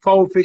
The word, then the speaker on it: VfB: escribe B corta, F, ETS, que es una letra que está en el alfabeto alemán, VfB Stuttgart se pronuncia, se me fue metiendo en el corazón.